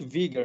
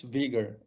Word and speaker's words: Uyghur: it the word order we pronounce in our language in vegan language and that's used in english language vigor as i pronounce vigor then also the writing